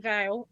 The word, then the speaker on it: Val: So I'm Val, pronounced the same way as a bridal vow, but actually it's my surname and it's spelled differently.